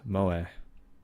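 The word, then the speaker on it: 萌え: entertainment centered around characters who possess such traits pronounced MOA it has some nuts I'm not completely ignorant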